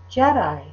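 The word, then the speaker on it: Djedi: the days of kufu the D and the J are pronounced together making the pronunciation of the word to be Jedi do you remember the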